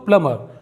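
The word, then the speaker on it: plumber: पढ़ते हैं दोस्तों लेकिन यह है प्लबर क्योंकि यहां पर भी एम के बाद बी साइलेंट है यह वर्ड बहुत लोग मिस्टेक करते हैं यह है दोस्तों प्लमर प्लमर का मतलब होता है नल का जो नल ठीक करता है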